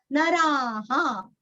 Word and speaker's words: नराः: नते संसारिणो, संसार नहीं करना, संसार, संसार, संसारिणो रीरस्व, संसारिणो नराहा। यहाँ पे रा पूरा बोल के विसर्ग का उच्चारण यहाँ पे हमें हा ही करना है, यहाँ पे ह नहीं बोलना।